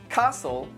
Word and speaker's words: castle: Now, let's take a look at a few words with a silent T. Butcher, castle, listen, mortgage, soften, which.